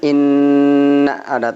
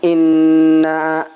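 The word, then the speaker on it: إنا: kita pelajari atasnya dulu ada Inna dibacanya in ada takzib ditahan Inna ya bukan Ina tapi Inna ndak ya kemudian ini ada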